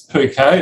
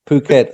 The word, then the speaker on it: Phuket: really long trip did you know how to pronounce pouquet or Phuket Phuket I do now I've only just that a